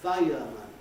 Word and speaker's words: fire: what i do is i compress uh smooth out a bit that sequence so i practically lose the it in fire fireman and i practically lose the up in powerful not our but powerful no smoother pronunciation other normal